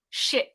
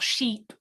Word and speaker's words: ship: ship yeah so just just try to make sure it's a short ship not sheep okay ship right ship and chief she be like animal and ship so not a jumping sheep good what's the next